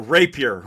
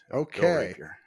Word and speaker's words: Rapier: me on it's great to be here uh Rapier would be How uh we pronounce our our last name rap here yeah all right so um I say you